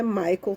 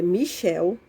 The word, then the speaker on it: Michel: pronunciar o nome dele não é maicon tá gente é michel tá e se pronuncia